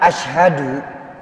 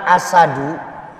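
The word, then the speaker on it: أشهد: biasanya ya bapak ibu kalimat Asyhadu dengan asadu ataupun asadu itu jauh berbeda kalau Asyhadu saya bersaksi ini yang tepat Asyhadu tapi ketika kita ringankan bacaan ini menjadi asadu jadinya singa pun ketika kita membacanya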